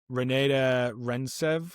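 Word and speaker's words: Renate Reinsve: Uh, Renata Rentsev, I think is how you say her name.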